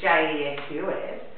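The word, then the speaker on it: Jesús: And in another language, Jesus, which is J-E-S-U-S, is pronounced Jesus. Yes, Jesus. It's just a different country.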